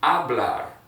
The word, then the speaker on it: hablar: that's going to be hablar habla remember what i said h is silent keep it silent and then we have